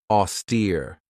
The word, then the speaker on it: austere: This has two syllables, and the stress is on that second syllable with that long E sound, austere.